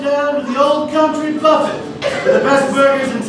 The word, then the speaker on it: Buffett: the best cut Mr Buffet do you mind if I call you Jimmy sure great Jimmy it's pronounced Buffet what is the name